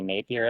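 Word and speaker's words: Napier: He did a race in I want to say Nap year is how you say it in New Zealand.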